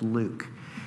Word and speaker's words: LIWC: and word count liwc which we pronounce Luke and the Luke program